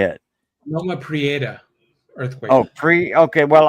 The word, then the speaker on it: Prieta: Loma Prieta earthquake. Oh, okay. Well, I'll roll my tongue on the R. Prieta. Yeah. I'm French, so I roll my tongue on the R's.